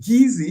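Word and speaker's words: Kissi: gas and the GES SP kis SSI but pronounced Gizzy sounds a lot like gii and that her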